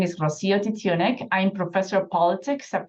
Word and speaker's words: Rocío Titiunik: How do I pronounce it? Rocío Titiunik.